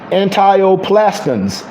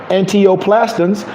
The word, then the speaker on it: antineoplastons: And this is what it's called: antioplastins, antioplastins.